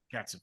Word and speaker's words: Katzif: We had a former guest on our podcast named Oren, and I think his last name may be pronounced Katzif. That's correct. Katzif, Oren Katzif.